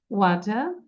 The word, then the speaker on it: water: Wet water, wet water. So these two words you have to read 20 times. You count and read 20 times. Wet water, wet water, wet water, wet water. Don't pronounce R.